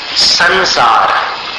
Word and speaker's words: संसार: उदाहरण दिए थे आपको संसार उस स के ऊपर अनुस्वार है और आगे सार है तो उसको अनुस्वार के उच्चारण को सार में मिलाना है तो संसार न जैसा उच्चारण हो गया फिर संशय संशय सुना